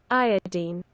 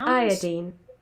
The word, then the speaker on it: iodine: Like other halogens, iodine is pronounced iodine, especially by chemists. Who are you talking Iodine. to? To non-chemists, Iodine. especially in the U.S. Just Iodine. say the wrong thing.